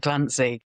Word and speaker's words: Glancey: Tis Glancey, is that how you say it?